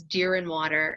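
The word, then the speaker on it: Deerinwater: pronouncing your name properly my last name is deer and water it's just like it sounds just like it's spelled people just can't wrap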